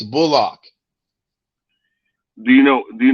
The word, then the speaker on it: Bullock: does your name pronounce is it bullock or bulldog how would you like to pronounce it he said i'm glad you asked me that it's bullock do you know do